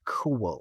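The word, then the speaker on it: Fionn mac Cumhaill: And as I said, Fionn McCool, it's cool. The MH is pronounced wah in Irish, so it's cool.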